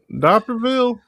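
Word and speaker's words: D'Iberville: Well, Diaperville? Diaperville, yes. It's spelled like the Beerville.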